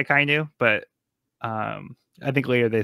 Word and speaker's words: Akainu: I think the general pronunciation would be Akainu.